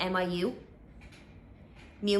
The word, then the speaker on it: Miu Miu: And they also have like the fake Miu, I don't know how to pronounce that, but the M-I-U. Miu Miu, yeah, on the side as well.